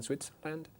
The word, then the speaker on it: Switzerland: Have you ever lived in Switzerland? No, Switzer. Switzer. Tiene que oírse la sílaba en medio. Switzer. Switzerland. Land, no, Lund. Land.